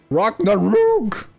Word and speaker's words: Ragh Nar Roog: out oh that was Gigi well done that ragnaroks was Ragnarok Ragnarok rock the rogue okay that's the proper way to pronounce it that rocking the Ruge was really